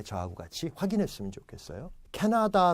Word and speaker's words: 캐나다: 같이 확인 했으면 좋겠어요 캐나다 라는 나라 이름이 있습니다 자 물어보겠습니다 액센트가 어딨습니까 택 앞에 있죠 많습니다 나하고 다 에는 액센트가 없어요 앞에 있습니다 켓 나 딱 발음